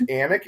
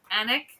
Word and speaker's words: Alnwick: We are in Alnwick. Yeah. Anik. It's pronounced Anik. It's ALNWICK, and it's in Northumbria, England. I thought it was. But they like to delete some certain letters, so it's just Anik. Yeah.